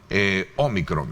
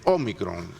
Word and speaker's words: ómicron: Así sí, con tilde en la Omicron. Eso discutía con una colega suya ayer. Le decía, ¿sí? No, mire, es sin acento, pero sí es con acento en español, en inglés no. Sí. Entonces, Omicron. En inglés la gramática es solamente en énfasis, no es en tilde.